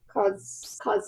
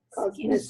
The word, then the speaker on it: cosmesis: has been done, and it's used for good cosmosis, I guess is how you say it. Cosmesis.